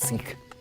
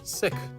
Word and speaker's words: Sikh: for meditation and prayer now how come you say sick and not seek well the actual pronunciation is sick okay but some people